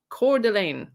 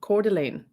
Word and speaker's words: Coeur d'Alene: hold on one second i'll say it correctly now coeur d'alene i've literally got in google how to pronounce that word cordlane that's where they were yes okay coeur d'alene so we continue with